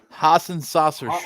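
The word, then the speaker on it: Hassenauer: an upgrade to jc how do you say it ryan haasen saucer hassan sauce barbecue saucer haas and saucers okay because hassan hour was obviously the better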